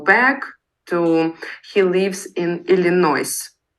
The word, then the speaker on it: Illinois: He lives in Illinois. Они только «с» не произносят.